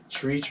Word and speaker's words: Treach: Dupri, Da Brat, DMX, Treach or Tretch. I always forget how to say his name. Do you know Naughty by Nature? Tretch. Is that Tretch? Yeah, Tretch. it's Tretch, like treacherous, right?